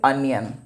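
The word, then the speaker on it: onion: वैसे अनियन, इसको ओनियन नहीं पढ़ते हैं, अनियन।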